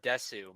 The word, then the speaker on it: desu: It's like with the word desu. Most of the time, the U is not actually pronounced.